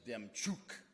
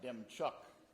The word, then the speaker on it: Demchuk: a good Ukrainian and my last name is Dem chuk and not Dem Chuck it doesn't have us doesn't have a c before the k I get that from